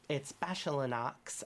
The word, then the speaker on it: Bachelinox: There's a plant that grows outside of it that makes it appear, and it's Bachelinox, as in bagel and lox.